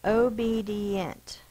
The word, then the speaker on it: obedient: O is an open syllable, the vowel is long. B, open syllable, the vowel is long. D, it does not, that's an open syllable, but this syllable does not say the I sound, it says the long E sound.